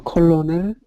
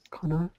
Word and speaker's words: colonel: 더 컬러넬, 커널이라고 해가지고요. 애를 발음 안 해요. 커널, 커널이 소령인가?